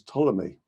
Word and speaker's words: Ptolemy: be traced back to the greco-egyptian scientist claudius ptolemy the pea is silent as in the swimming pool ptolemy referred